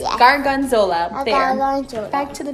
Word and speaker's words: gorgonzola: It's not gorgonzola, it's gorgonzola.